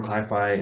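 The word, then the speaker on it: cli-fi: recently published um and the term is modeled on the word sci-fi right uh and just replacing the first syllable with Chi right so instead of sci-fi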